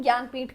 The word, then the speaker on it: ज्ञानपीठ: हुआ है नेक्स्ट है ज्ञानपीठ अवार्ड। ठीक है? यह जे एन ए है बट इसको प्रोनाउंस हम ज्ञानपीठ करते हैं।